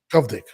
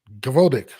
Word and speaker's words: Gvozdyk: Govdik, I think. What did you say? Gvozdyk. You don't say the first letter in the Russian names, man.